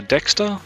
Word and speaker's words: Dexta: PDE subheading click on enable PT mate and Dexter support and then add a dexter device at